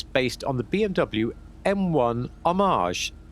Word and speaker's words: homage: on the BMW M1 homage I do believe that you're supposed to pronounce it the French way although we'll often say pay homage to but that's convenient because